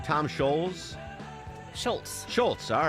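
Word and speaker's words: Scholz: Deborah, am I mispronouncing his name? Tom Schultz? Schultz, all right.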